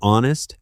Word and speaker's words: honest: The same happens with honest and honor and air.